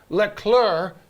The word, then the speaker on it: Leclerc: of the season with leclerc you do not pronounce the c finishing second all right